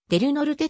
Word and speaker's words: Del Norte: たものでありスペイン語ではデルノルテとなるはずであるが公式の発音は末尾の良いが取れて出る乗るととなっているこの田園地帯に